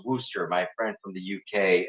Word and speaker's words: Worcestershire: is, a classic French's Worcester sauce. I was told that's how it's pronounced. It's written Worcestershire, but it's apparently pronounced Worcester.